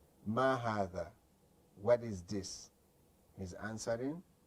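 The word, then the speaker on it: هذا: You see, hadha is pronounced like this. It's supposed to be written like this, but they eliminated this alif and they just stretched it like this.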